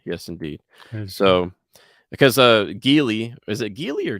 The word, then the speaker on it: Geely: made in China yes indeed so because uh geely is it geely or Julie I always pronounce agility but okay let's just go with that jili is um the owner of both Volvo and